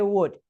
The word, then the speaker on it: would: If you notice, I'm not pronouncing the L in would or in should or in could.